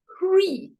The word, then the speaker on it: Hri: So he said, say, in Guru Rinpoche, you have the seed syllable, and the seed syllable is called Hri, H-R-I.